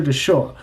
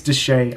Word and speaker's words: Deshae: I'm like, yo, is it Deshae or Deshaw? And he just messaged me saying, it is confirmed. It's Deshae. I said it right.